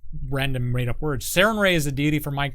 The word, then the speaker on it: Sarenrae: head for decades, and I've always said Sarenrae, but people see it spelled out, and typos happen. It's like, that sounds like Saranrae. That sounds like Saranwrap. It's like, if you don't say it right, sure, kinda. But if you don't say it right, you're wrong.